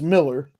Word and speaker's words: Millar: It's Miller. Malcolm McDowell was in it. I'm definitely checking that out after the show. Huh. Interesting. I've always pronounced it Millar too, Jay.